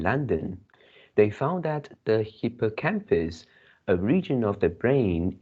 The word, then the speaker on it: hippocampus: About the hippocampus, how do you pronounce it? You pronounce hippocampus, but the stress is on the third Yeah. uh, It's on the campus.